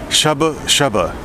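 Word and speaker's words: shabu-shabu: So even though you pronounce it shabu shabu, it's in Korean it's shaba shaba.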